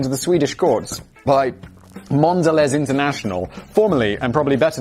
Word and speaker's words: Mondelez: Mondelez International, and that is the correct pronunciation.